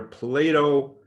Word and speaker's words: Plato: population of population was near plato missouri that's how you say it in missouri so that's where it